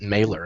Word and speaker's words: Mahler: Well, I know an Irish No, kid but- whose last name is spelled Mahler, and he just pronounces it Mailer, and it's Mahler.